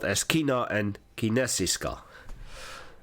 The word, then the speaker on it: kinesiska: spelled as Kino and kinesiska in certain uh Swedish words the K and the I are pronounced as she and Swedish actually has